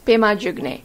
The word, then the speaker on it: Pema: means padma or lotus actually even in tibetan the word is written as padma but because they could not pronounce it exactly like that it became pema in the spoken language this is the same